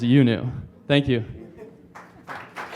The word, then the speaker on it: IUNU: When you see IUNU, it's pronounced UNU.